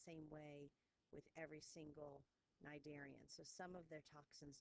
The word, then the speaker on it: Cnidaria: we have is the cnidarians the sea is silent so we have phylum Cnidaria so your corals your hydros